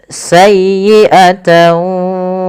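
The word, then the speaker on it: سيئة: Kemudian sayyi'atan wa ahatat bih. Pada lafal sayyi tekan di huruf ya-nya karena dia ya tasdid dan lembutkan ya. Sayyi bukan sayyi, bukan sayyi, bukan sayyi, tapi sayyi'ata.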